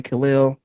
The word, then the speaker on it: Khalil: Um, this class of 2026 offensive lineman Khil, let me know if I'm saying this wrong.